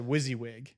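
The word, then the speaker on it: WYSIWYG: a great lesson to learn is he said wizzywig what you see is what you get wyz WS like wizzywig is what it's spelled out what you see is what you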